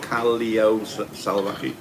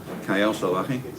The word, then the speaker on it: Callao Salvaje: Germany, Callao Salvaje, or Callao Salvaje. It's spelled with double L, but it's pronounced with a Y. Callao Salvaje, which actually means savage boulders, or savage pebbles, I like to think.